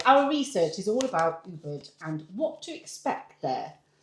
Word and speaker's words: Ubud: it's oo. It's like the two O's. So all right. Ooh. Ooh. Ooh. Ubud.